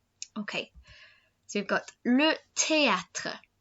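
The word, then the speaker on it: théâtre: so you've got le teatre so this isn't pronounced theater try it galway so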